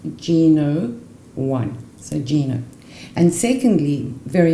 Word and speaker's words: Gno1: so that when you put it together is pronounced G no one a Gina and secondly very important this is